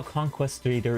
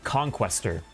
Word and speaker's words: conquistador: Oh, wait, wait, that is how conquistador is pronounced, means conqueror in Spanish. Oh, okay. Wait, conquistador? What? That is not how I was inclined to pronounce that at all. See, I would have been inclined to say, like, conquestor. Or yeah, conqueror. Yeah, conqueror would have been another way to go.